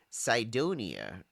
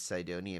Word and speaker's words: Cydonia: One of the places they were looking at specifically was the Cydonia. I'm probably pronouncing that wrong. Cydonia, Cydonia region of Mars. I'd say like we pronounce cyan, like the color, right?